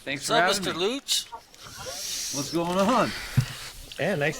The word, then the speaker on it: Leucht: So is it like Gooch, but with an L?